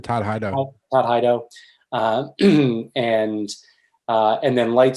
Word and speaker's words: Todd Hido: Todd Hito, am I pronouncing his Oh last yeah, name? Todd Hido.